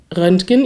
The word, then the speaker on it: Röntgen: denn tatsächlich wird rönken im Infinitiv wie ein G ausgesprochen aber wenn man es konjugiert wird es wie ein ch ausgesprochen Röntgen ich gehe zum Röntgen